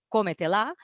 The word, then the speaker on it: cómetela: Diu, per exemple, pronunciar correctament en castellà la paraula cómetela exigeix fer recaure l'accent principal a la O de come i el secundari a la A de la. Però un valencià no parlant pronunciarà sempre dos accents primaris, l'un a la O de come i l'altre a la E de te, amb la qual cosa